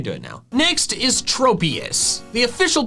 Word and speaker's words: Tropius: Its name comes from tropical and saurus, hence the short O in tropius. However, I have called it tropius into adulthood since I thought the first part of its name didn't come from tropical, but tropism.